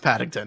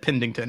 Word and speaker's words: Paddington: now, he mispronounced Paddington and he said Pendington.